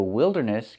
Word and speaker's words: wilderness: Remember the first word is wildlife. Use the i sound. Wildlife. And the second word is wi. Wilderness. The i is different.